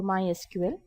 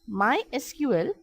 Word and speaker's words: MySQL: MySQL is a very popular open source database, officially pronounced as MySQL, not MySQL.